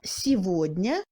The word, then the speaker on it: сегодня: Le G se prononce comme V dans les mots сегодня et того et les mots qui en proviennent.